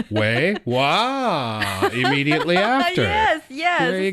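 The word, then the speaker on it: 哇: Okay, the thing is, in English, you say wow. So there is a wu sound at the end of the wow. In Chinese, it's just wah.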